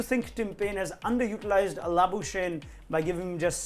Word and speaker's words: Labuschagne: worth, the Afrikaans pronunciation is Labuskagne.